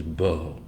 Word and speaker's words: Bo: Hebrew bet Olive that say it and I'll pronounce it is Bo and it means uh usually it's translated to